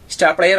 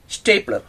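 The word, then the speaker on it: stapler: ഇത് സ്റ്റാർ പ്ലെയർ അല്ല, ഇതാണ് സ്റ്റേപ്ലർ.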